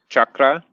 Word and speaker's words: chakra: the things but yeah so say chakra chakra chakra like three syllables chaka chakra more more like okay so it's not actually an extra syllable it's not said like an english word english words are all said with your mouth moving up and down that ours said with your tongue punching forward chuck chuck chuck chuck